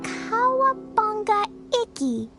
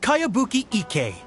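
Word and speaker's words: Kayabuki Ikkei: heard of it by cowabunga icky this is a really strange name who's this cowabunga it's pronounced kayabuki ike that would be me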